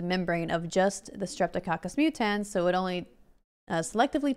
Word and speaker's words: mutans: Mutants? It's not mutants! Mutans! Oh my god, look it up. S-mutans. M-U-T-A-N-S. Mutans. Not mutants.